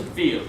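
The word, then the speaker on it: viel: Or V is pronounced F, rather. So, like veal, V-I-E-L, for much is veal with an F.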